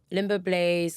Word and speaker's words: Limoblaze: to say his name I swear it's limbo blaz limbo Blaze limbo there's no be in his name except for the blaze bro CH okay okay